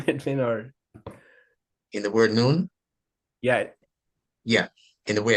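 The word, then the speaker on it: نون: that's the word for the letter N in Arabic noon I could say n o o n or I can say n-u-n you know as long as you pronounce it correctly it's fine but I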